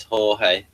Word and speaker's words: Jorge: At least I know how to pronounce this as Jorge.